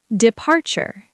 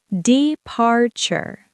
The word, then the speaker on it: departure: Departure. Departure. Three syllables. Stress on the second.